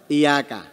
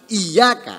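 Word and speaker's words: إياك: tajwidnya belajar bacanya Apa Iya kah Oh yang itu ya Iya kak ya nya ada tasnya tasnya dihilangkan Iyakah tanpa tasdid gimana halo halo itu dapat merubah arti iyyaka Hai jadi Iyakah Facebooknya dihilangkan dengan itu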